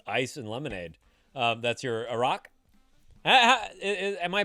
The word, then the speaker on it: Arak: That's your Arak. Am I pronouncing it somewhat close, Ryan? Arak.